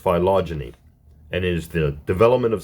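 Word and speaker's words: phylogeny: observed the phenomena of philogyny H okay it's pronounced philogyny and is the development of species which are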